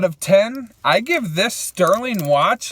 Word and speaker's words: Stührling: uh overall out of 10 I give this Sterling watch like dude a 9.5 for 39 this